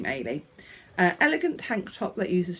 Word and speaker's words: Ailey: I had to look up how you pronounce it. Ailey. It is by Mary Henderson. It's a Scottish name, Ailey.